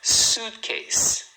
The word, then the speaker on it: suitcase: Suitcase. Então, ó, a palavra desse tamanho só tem duas sílabas. Suit case. A primeira é a mais forte.